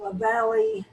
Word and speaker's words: Lavallee: Is it Laval or Lavallee? Everywhere you want, honey. No, it's not everywhere I want. How do you pronounce it? Lavallee.